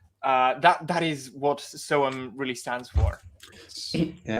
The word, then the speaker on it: SOEM: So we're like, okay, so we have so and then the letter M, but it's the pronunciation of the letter M.